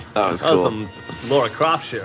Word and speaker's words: Lara: It's pronounced Lara Croft, please. Yeah. It's English. I thought you had this longer A. It's like Lara. Lara. Lara. Croft. You gotta roll the R. She's actually part Spanish.